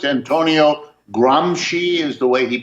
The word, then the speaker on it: Gramsci: It's Antonio Gramsci is the way he pronounced it.